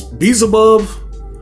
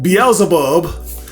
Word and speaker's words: Beelzebub: Yeah, because Beelzebub, he did I say it right this time? No. I didn't. Beelzebub.